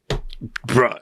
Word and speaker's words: bruh: Bruh. Yeah, in Hawaii, we use that as bruh, right? We don't say it like the way you think it as a boulder holder. We say it as bruh.